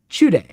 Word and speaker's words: Chude: Chude. That's how you pronounce his name.